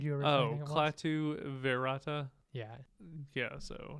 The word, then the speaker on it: Klaatu: So it's Klaatu, Barata, Nikto.